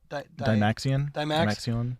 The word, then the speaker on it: Dymaxion: It kind of looks like how do you pronounce that? Dymaxion.